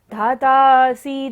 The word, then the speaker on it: धातासि: धातासि, धातासि धीर, धातासि धीर, ध के ऊपर बड़ी की मात्रा है तो हमें इसको लंबा लेना है।